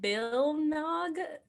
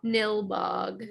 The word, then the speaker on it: Nilbog: Bilnog? How do you pronounce the town? Nilbog. Nilbog. She immediately was like, "That's just goblin spelled Oh, backwards."